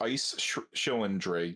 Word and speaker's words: Ice Schillendrig: As far as I know, it's just Ice Schillendrig, just all together because it kind of merges together.